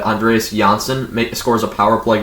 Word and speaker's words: Andreas: jersey and then uh andres yeah yeah johnson i've heard this guy's name pronounced in a bunch show my bad andreas johnson scores a power